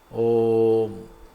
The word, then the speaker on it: ഓം: വരെ മുകളിലോ നാസിക വരെ അകാരം കണ്ഡത്തു നിന്നാണ് ഉകാരം ഓഷ്ടങ്ങളിൽ നിന്നാണ് മകാരം നാസികായുക്തമായ ഓഷ്ടങ്ങളിൽ നിന്നാണ് എന്നാണ് അപ്പോൊ ചുരുക്കി പറഞ്ഞാൽ എല്ലാ ശബ്ദസ്ഥാനങ്ങളിലൂടെയും പുറത്തേക്ക് വരുന്ന ശബ്ദമാണ് ഓം ഇതുപോലെ വേറൊരു ശബ്ദം ഇല്ല ഇല്ല